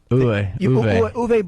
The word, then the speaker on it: Uwe: How do you say, Yui or UV? Uwe Boll.